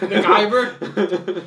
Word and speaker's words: Guyver: You mean The Giver? No, it's the G-U... The Guyver. What? It's harder. Oh, all right. I thought you were just pronouncing it wrong. No. The Guyver. You're really hitting that eye real hard.